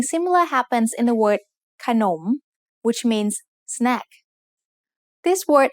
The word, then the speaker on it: ขนม: between นอหนู and มอม้า The first syllable ขะ is low tone, and the second syllable หนม is rising tone because the high class consonant ขอไข่ has an effect on both syllables.